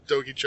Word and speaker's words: Doi: uh dice G Sakai DOI is that how we pronounced it y DOI do it rhymes with choki because it's finish the doy violento Jack and AA